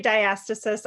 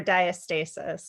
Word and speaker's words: diastasis: Either you can say diastasis or diastasis. Diastasis, that's it. Weird, like I butcher it every time. You'll hear it both ways.